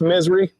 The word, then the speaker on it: Missouri: dogs in somewhere in Missouri yeah it's pronounced misery I know yeah I